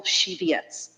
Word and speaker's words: Shivietz: Chairman, my question exactly, I confirmed with my client the correct pronunciation of his name, and it's Mr. Michael Shivietz.